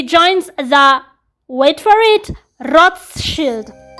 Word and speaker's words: Rothschild: Around 2008, he joins the, wait for it, Rothschild. That's how you say it in German. It means a red shield. The Americans pronounce it as Rothschild.